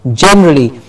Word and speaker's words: generally: saying the word generally John gets the stress generally not generally but generally communication communication problems generally